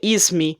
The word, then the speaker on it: Esme: O último ato de Esm Linux. Na verdade diz que pronuncia ismi, mas eu acho que pronunciar esm é mil vezes melhor do que pronunciar ismi da Mag.